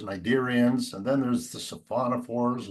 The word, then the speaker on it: cnidarians: I always like to say stuff with silent letters, ctenophores, cnidarians, and then there's the